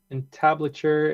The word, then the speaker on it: entablature: Oh, Peter says I would start with follow me for the entire entablature and the railing and then take out parts for the balusters and add pedestals.